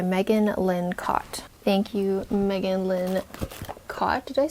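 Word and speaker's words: Megan Lynn Kott: Thank you, Megan Lynn Cott.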